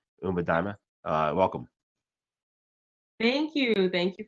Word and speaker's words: Umba Daima: Umba Daima. Welcome. Thank you. Thank you for having me. Umba Daima has two pronunciations. So the other one is Umba Daima. So sometimes you'll hear me say both.